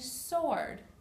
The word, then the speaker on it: sword: unexpected sound there are several words that have a silent W the W is not pronounced wrist right here your wrist wrestle like the sport of wrestling wrinkle and sword wrestling is a sport